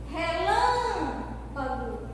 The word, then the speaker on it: relâmpago: Então, a sílaba tônica da palavra girafa é Rá. Relâmpago, o Lã.